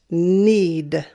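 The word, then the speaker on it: knead: phone isn't english fun i've also talked about the silent k with kn sounding like an n this word is pronounced need need students usually have problems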